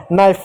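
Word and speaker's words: knife: बता दूंगा ठीक है नाइफ नाइफ मींस होता है चाकू अब यहां पर के साइलेंट हो गया ठीक है और भी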